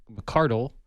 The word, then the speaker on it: McCardle: And in studio, we have a McCardle, is the appropriate way to say his name, with McCardle Productions